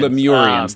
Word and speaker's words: Lemurians: When did you first start hearing sort of stories about legends about Bigfoot or Lemurians? And I don't know if I'm pronouncing that right. Lemurians. Lemurians, thank you.